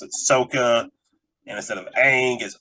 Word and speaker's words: Aang: like is basically the same but soccer they pronounce it Soca and instead of Aang is Ong you know just like what do you do